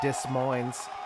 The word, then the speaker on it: Des Moines: macbeth good job paul i don't know why that guy didn't pronounce the s in dis mines either one of them